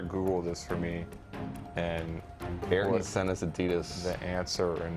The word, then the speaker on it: Ayrton: What is the name of the Adidas racing boot famously worn by Ayrton Senna? Is that how you pronounce his first name?